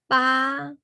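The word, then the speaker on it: pas: And then the example of the ah is in the Hmong word, we put ba, ba, ba, P-A-S, okay?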